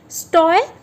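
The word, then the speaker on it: stoicism: से, उसे हम कहेंगे स्टोइज्म। सो इसका प्रोनाउंसिएशन आपको पता है, STOUH, मैं फिर से लिख देती हूँ, STOUHS, USIZM।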